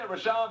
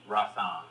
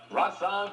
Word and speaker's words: Rahsaan: Do not mispronounce this band's name. I said Rashan Patterson on the radio.